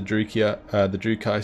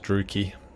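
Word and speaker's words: Druchii: put him into the Drukai stance. The Druki stance. Sorry if I keep pronouncing that wrong. So used to like Roman names, like Triarii. But in this case it's just Druki.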